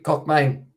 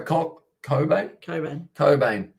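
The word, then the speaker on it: Cockbain: Cockbane. Oh, sorry, Cobain. Why does it say CK? A lot of ones that are spelt that way are pronounced with the C and K silent.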